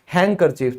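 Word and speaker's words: handkerchief: वैसे तो लोग इसको हैंकी हैंकी करते रहते हैं, लेकिन असल में इसकी फुल फॉर्म होती है हैंडकरचीफ। तो यहां भी आपका क्या है? डी साइलेंट है।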